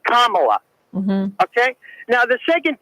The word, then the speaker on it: Kamala: The accent is on the first A, Kamala.